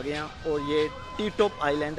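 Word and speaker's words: Ti Tốp: पी कर दिया तो इस आइलैंड का नाम टी टॉप है और उस बंदे का स्टैचू भी इधर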